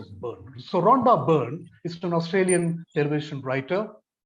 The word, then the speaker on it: Byrne: on which i should speak now rhonda the pronunciation is burn b y r and e is the the word put the letters but it is pronounced as bird so rhonda byrne is an australian elevation writer producer her famous